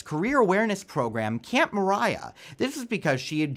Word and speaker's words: Maria: called the wind mariah it's pronounced mariah but it's actually spelt maria the song comes from